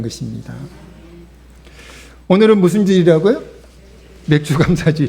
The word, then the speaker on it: 맥추: 것입니다 오늘은 무슨일이 라고요 맥주랑 차지 지금 발음 좀 조심하셔야 돼요 맥주가 아니고 에 맥주가 아니고 맥주 감사 주일입니다 몇주 감자 주인은 어떤